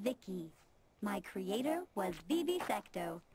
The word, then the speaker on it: VI: transistors by the way I'm VI I pronounced this Vicki my Creator was BB